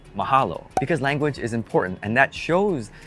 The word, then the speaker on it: mahalo: from the dad and she says mahelo and the dad has to correct her mahalo because language is important